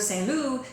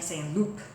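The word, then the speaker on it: Saint-Loup: above her station, and she takes it onto herself to believe that Saint Loup is pronounced Saint Loup. So instead of Saint Loup, she's saying Saint Loup with a very hard P.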